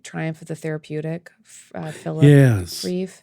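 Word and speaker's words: Rieff: I'm sure you did the and I always mispronounce this last name 1968 Triumph of the therapeutic Philip reef reef yes yes when I read it it sounds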